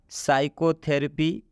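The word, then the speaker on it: psychotherapy: Next, साइकोथेरेपी। इसमें भी आप देख सकते हैं पी के बाद एस आया है, मतलब ये इस पी का उच्चारण हम नहीं कर रहे, यहाँ से बोल रहे हैं साइकोथेरेपी।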